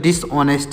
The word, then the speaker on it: dishonest: तो डिसऑनेस्ट। इसको क्या पढ़ेंगे? डिसऑनेस्ट। डिसऑनेस्ट। यहाँ पर डिसऑनेस्ट नहीं पढ़ेंगे, जो यच लिखा गया यह साइलेंट है, तो यहाँ पर हो जाएगा डिसऑनेस्ट।